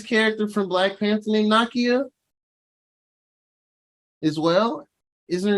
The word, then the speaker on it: Nakia: And they show, is it Nazi? Have I been saying her name wrong the whole time? It's Nakia. Oh, it is. It's definitely Nakia. Nakia.